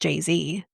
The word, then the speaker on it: Jay-Z: It's still pronounced Jay-Z.